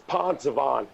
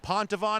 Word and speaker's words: Poncevon: It's Poncevon. I see. Let me say it again. Is it Pontavon? Am I saying it right? Pontavon? No, it's Poncevon. Poncevon.